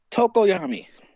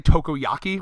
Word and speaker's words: Tokoyami: Like, I was going to say Tokoyaki, which I think is a food.